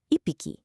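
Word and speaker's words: 一匹: But for one small animal, it's ippiki.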